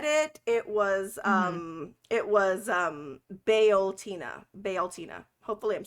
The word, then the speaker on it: Bealtaine: I would pronounce it Beltane, but that's not correct. It's Bealtaine.